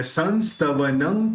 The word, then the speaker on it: संस्तवनं: तीर्थेश्वरस्य कमठस्मय धूमकेतुस् तस्याह मेष किल संस्तवनं करिष्ये। अब दोनों जो बिंदी है उसका दोनों का उच्चारण न ही होने वाला है, क्योंकि यहाँ पे स